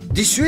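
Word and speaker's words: です: Qui le prononce en insistant sur le "u" ce qui est une caractéristique des femmes du Nord de Honshu, île de l'archipel d'Hokkaido.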